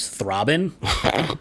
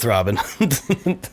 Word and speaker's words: Thraben: And if you pronounce it like that, it comes out as Thraben.